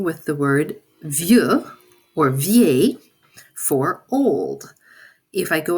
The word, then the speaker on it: vieille: And then finally, we will do the same thing with the word vieux or vieille for old. If I go across this list, they are pronounced vieux, vieille, vieux, vieille, vieille.